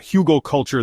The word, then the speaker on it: Hugelkultur: Hugal culture, pronounced hugal culture, means hill culture in German. The traditional approach creates large mounds with logs at the base covered with branches, leaves, compost, and soil.